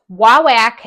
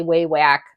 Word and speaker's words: Wawak: would recommend you look wawak and I might be saying it wrong some people say wawak some people say wewak wck offers free shipping